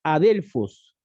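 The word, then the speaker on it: ἀδελφός: palabra hermanos que encontramos en el griego significa a delfos tal cual como está ya se pronuncia en todo caso porque la escritura es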